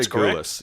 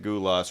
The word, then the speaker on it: Gulas: I'm going to say Gulas. Yeah, Gulas is a good pronunciation.